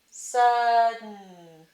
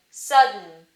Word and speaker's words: sudden: Sa, but we need to say it's a nasal release. So you're going to put a tiny N right up at the top. Sud, syllable break. Sudden. But we need another diacritic here. We need the syllabic diacritic to make the N syllabic. So we have sudden, sudden.